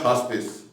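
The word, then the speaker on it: hospice: एंड हाउस स्पेस, यहाँ पे इसका मैंने प्रोनाउंसिएशन भी साथ क्लियर किया, हॉस्पिस, ठीक है, हॉस्पिस।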